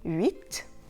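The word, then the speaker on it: huit: And you may also have noticed that the final T in the French number 8, 8, is simply pronounced. However, when it's followed by a consonant, it's also ignored.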